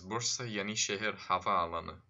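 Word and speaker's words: Bursa Yenişehir Havaalanı: So, if you're wondering how to pronounce that, that is Bursa Yeni Şehir Havaalanı.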